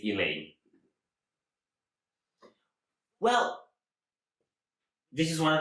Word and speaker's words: Eleine: is elaine i think i think you're supposed to say it elaine well this is one